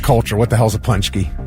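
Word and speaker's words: pączki: They do different types of punchkis, but yeah, Polish dessert. And you wouldn't know it's pronounced punchki by the way it's spelled.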